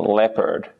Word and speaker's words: leopard: sound Le bird so in the American pronunciation leopard leopard the r becomes pronounced in the English sorry I keep saying that the British English would be more like leopard you don't really hear the r leopard but American leopard for